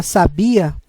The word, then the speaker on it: sabia: sílaba tônica é no último a sabiá enquanto a palavra sabia a sílaba tônica é no bi que não tem acento ele dá aquele som mais aberto acentuação acento circunflexo marca